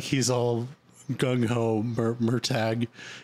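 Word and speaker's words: Murtagh: agreed is it's called we looked at the pronunciation page in the book and apparently his name is mer tag not murtaught I like more talk better it sounds better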